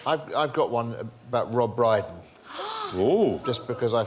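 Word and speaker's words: Rob Brydon: I've got one about Rob Briden oh just because I found something that rhymes with brighten yeah there was a young man called Rob brighten whose favorite film was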